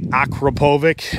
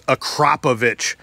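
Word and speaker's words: Akrapovič: the name of uh calling it acropovic and realized that it's acropovich akrapovic as far as the pronunciation goes but you can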